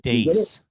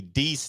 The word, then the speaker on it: Deace: Well, it's actually pronounced Dace. It's Steve Dace. Works for me. I was wondering until I got to the whole, until I put together the Deese nuts.